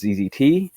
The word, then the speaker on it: ZZT: don't know how to i think the canonical way to pronounce it is is often referred to as zzzt and as a canadian it's really obnoxious to say zzt yes um so i